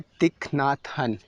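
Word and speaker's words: Thích Nhất Hạnh: Okay, the next book is, इसको pronounce करना मैंने कल ही सीखा है इनका नाम। ये है तिक नाथ हन। तिक नाथ हन इनकी बुक है द मिरेकल ऑफ माइंडफुलनेस।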